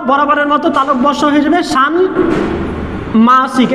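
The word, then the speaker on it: ষাণ্মাসিক: মতো তালব্যস্ব হয়ে যাবে সান মাসিক এই যে মটা কিন্তু এখানে উচ্চারণ হবে দ্বিত্ব হবে না নয়ের সাথে ম ফলা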